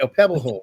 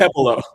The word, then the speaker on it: Okpebholo: Okpebholo, right? Okpebholo. That's okay. Okpebholo. You know what it is? It's the silent letters in there that get me.